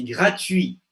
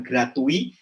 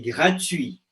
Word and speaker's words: gratuit: Ah, c'est gratuit, bukan gratuit, c'est gratuit.